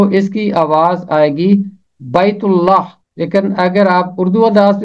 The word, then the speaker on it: بیت اللہ: اس کی 48ویں آیت۔ اس کا تلفظ ہے بیت اللہ۔ اگر آپ اسے عربی انداز میں پڑھیں گے تو یہ پڑھا جائے گا بیت اللہ، کیونکہ عربی زبان میں بڑی یہ نہیں ہوتی، صرف چھوٹی یہ ہوتی ہے، تو اس